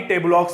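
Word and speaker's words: tableaux: ठीक है, अब इसको आप टेबलॉक्स बोल सकते हो। ठीक है, स्पेलिंग क्या है आपके यहाँ पे, टेबल ऑक्स बोल सकते हो, जहां इससे प्रोनाउंस करते हैं आपके टेबलक्स।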